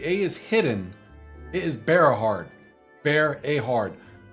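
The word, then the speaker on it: Bareahard: So there is a Berahard. See, it sounded like to me that you're saying Brea, not Berea.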